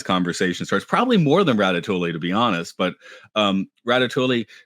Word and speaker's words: Ratatouille: Now, I can detect that you are emphasizing or at least pronouncing the L. Like you're saying Ratatouille, and I guess Yeah. I've always heard it and said it as Ratatouille, almost as if the two L's were like Spanish and turned into a Y.